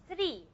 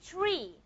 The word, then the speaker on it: tree: It's like there's a small itch in here like t. We call this an aspirated t.